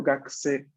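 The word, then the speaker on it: 学生: Pues si no yo diría gakse, gakse. ¿No? Entonces yo acá digo gakse, una U muy corta, pero está. Ok, ¿Vale? solamente es como un suspiro así de la U.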